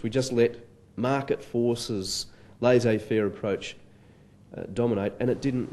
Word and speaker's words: laissez-faire: He uses the phrase laissez-faire. Laissez-faire is a borrowing from French. It closely reflects the pronunciation of the original language and the original spelling.